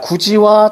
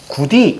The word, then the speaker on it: 굳이: 이거는 구디 이렇게 발음하면 안 되는 거지?